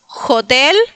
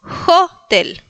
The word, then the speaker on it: hotel: Entonces, no es jotel, sino jotel.